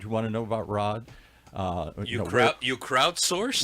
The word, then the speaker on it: Raad: looks like it's Rad but it's spelled it's pronounced Rod where does that name come from exactly wow